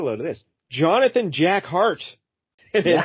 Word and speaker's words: Hart: So Jack of Hearts, this fella here, his real name, get a load of this, Jonathan Jack Hart. Yeah. But it's spelled H-A-R-T. So, Yeah, like heart to heart.